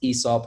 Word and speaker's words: Aesop: But we've also introduced a lot of really mainstream ones like Aesop, or I'm told it's actually pronounced Aesop, and we've all been getting it wrong for quite some time.